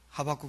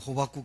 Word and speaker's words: 하박국: 이때 더 누려야 돼요 하박국 선지자 목사님이 발음 담해 가지고 호박국 선지자라고 했는데 하박국 선지자 뭐라 했어요 소양간에